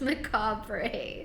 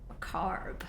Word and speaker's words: macabre: Macabre, is that how you pronounce that? It's not macabre? I've always read it as macabre. Damn. Macabre. Okay. The more you learn.